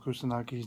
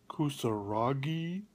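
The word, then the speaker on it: Kusanagi: i hate it when people can't pronounce motoko kusunaki's name correctly i hear motoko kusaragi and other such things and if they watch the show they'd hear it pronounced correctly i don't know why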